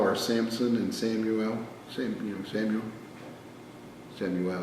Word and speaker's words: Samuel: Samuel is how you say it. It's actually Shemuel in Hebrew.